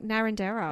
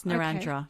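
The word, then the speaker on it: Narrandera: So I was like Narendera. It's Narandra.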